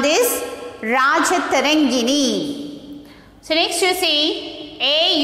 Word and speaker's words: Rajatarangini: Rajatarangini. How to pronounce this? Rajatarangini.